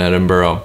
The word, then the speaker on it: Edinburgh: Well, first of all, it's Edinburgh, all right?